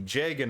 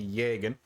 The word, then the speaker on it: Jagen: of is called the jagen archetype rather than the yeagen it does appear to be pronounced as a j by the community instead of a as